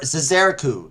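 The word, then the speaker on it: Zzeraku: to remember um see ah yes it's zazer zazareku z-z-e-r-a-k-u this is eriku i guess that's how you pronounce it i've never had a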